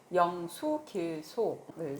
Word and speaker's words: 영수길소: 자, 오늘은 121강 지신수호 영수길소를 이제 배우시겠는데요. 제 입에 붙은 건 뒤에 구절이 영유길소인데요. 네. 원래 발음은 수랍니다. 네.